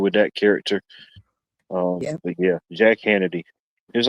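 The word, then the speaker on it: Hannity: think Hanna D cuz it rhymes with insanity, Bonnie.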